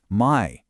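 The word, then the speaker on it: mãe: So, it's not "my", it's "mine". It has this distinct resonant hum.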